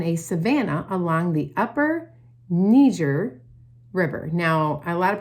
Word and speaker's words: Niger: But actually, the Niger River is pronounced Niger because that area was established by French people, and so they pronounce it Niger, okay?